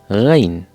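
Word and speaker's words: غ: Ghain. Ghain. Drink some water and gargle it to know how to spell.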